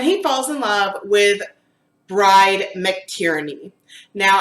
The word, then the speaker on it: Bride: falls in love with bride mctierney now I've also been told that her name might actually be pronounced like Brady it spelled bride though so I've just always called her bride but either way this